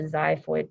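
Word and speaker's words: xiphoid: bottom is called the zyo process it starts with an X but you pronounce it with a z sound zho um and you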